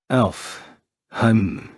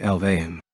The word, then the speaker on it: Alfheim: the Cover alfheim online Alf I'm online what does it mean it's actually pronounced more like alve means land of the